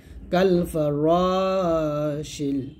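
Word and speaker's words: كَالْفَرَاشِ: দেবেন, কাল ফা র, শিন কে লাম খেতে হবে, শিন লাম জের শিল, কাল ফা র শিল।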